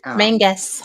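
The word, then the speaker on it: Menzies: Castle men or men Mangus Mangus sorry spelled menes it's spelled men pronounced their Mangus Mangus yes we got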